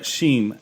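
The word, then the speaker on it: Shmi: Shima, is that how you pronounce it? Shmeen. Oh my God. I need another pint of Guinness in me. Yeah. Sheem.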